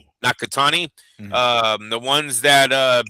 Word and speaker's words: Nakatani: Nakatani. Nakatani.